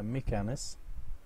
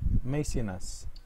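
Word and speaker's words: Maecenas: طبعا لفظه عبر لفظوه طبعا النيتيف سبيكرز عبر لفظوه ميكانس وبتحسنوا تلفظوها ميسيناس تمام Yes.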